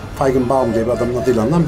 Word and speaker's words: Feigenbaum: Almancası iyi olanlar için tam telaffuzu sanıyorum şu şekilde Feigenbaum. Feigenbaum diye bir adamın adıyla anılan bir sabit var.